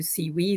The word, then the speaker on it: CEWE: so CW and um pronouncing it in German you would come to C we then um as it